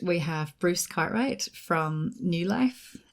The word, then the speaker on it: NeuLyf: have Bruce Cartwright from new life which is spelled in EU ly f isn't that right Bruce yeah and so you can say new leaf as well so for a long